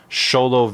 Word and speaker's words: Xolo: the black battle song sholo V2 it's spelled x o l o um but I know it's pronounced sholo because it's based off